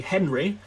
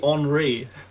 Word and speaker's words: Henri: I thought his name was Thierry Henry for a few years, because like as a little English kid, it's spelt like Henry. I had like friends called Henry. Why on earth would that be Henri?